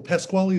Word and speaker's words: Pasquale: his last name, because in Italy we would say Pasquale, and I'm always wondering. Sorry? Oh, Pasquale is good.